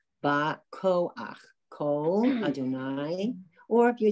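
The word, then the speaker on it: בַּכֹּחַ: Because at the end, remember when you have the letter Chet and you have the patach, the straight line under it, at the end of a word, it's pronounced ach.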